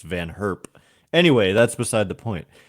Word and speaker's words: Van Herp: I always thought it was Van Gerp, but it's, I think, pronounced Van Herp.